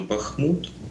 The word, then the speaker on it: Бахмут: таке Тож як правильно Бахмут чи Бах правильно однозначно Бахмут наголос на і назва міста вона походить від назви річки для нас дуже символічною